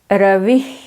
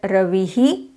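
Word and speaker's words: रविः: This is Ravi. South Indians do it as Ravihi. To some extent it is acceptable, though it's not the perfect one, because it makes it clear to the listener.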